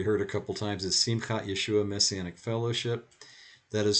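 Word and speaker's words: Simchat Yeshua: name you've already heard a couple times is simcat yeshua messianic fellowship that is spelled u s-i-m-c-h-a-t-y-e-s-h-u-a and the reason i'm explaining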